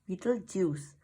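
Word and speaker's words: Betelgeuse: my favorite star was beetle geese pronounced beetlejuice mom said that mom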